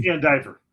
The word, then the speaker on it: VanDiver: Is it Van Diver? Just so I say it correctly. Van Diver. Van Dyver. Van Diver. Okay. I'm bad with pronunciations and uh annunciations.